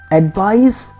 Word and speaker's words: advice: words are pronounced differently advice has an S sound at the end and advice has a